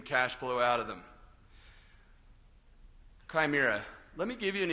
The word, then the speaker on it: chimera: Chimera is the actually the way I guess you're supposed to say it.